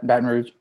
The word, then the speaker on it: Baton Rouge: Baton Rouge.